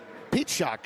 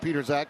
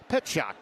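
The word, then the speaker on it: Pietrzak: Peteshock, I should say. There was a young man that played in the offensive line years ago. It's spelled like Peterzak, but it's pronounced Peteshock.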